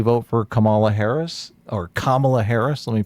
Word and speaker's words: Kamala: could very easily vote for Kamala Harris or Kamala Harris let me pronounce it correctly mhm or or Donald Trump